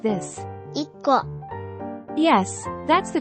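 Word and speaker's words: 一個: Double the initial K of Ko, making it KKO.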